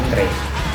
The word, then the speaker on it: antre: diucapkan oleh masyarakat ialah kata antre, yang dimana masyarakat lebih sering menyebutnya dengan kata antri daripada antre. Yang menggunakan E itu adalah yang benar, sedangkan I itu adalah kesalahan ya.